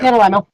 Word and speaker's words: NaNoWriMo: Is it NaNoWriMo? How do you say that for the November? Is that what it is? Yeah, NaNoWriMo.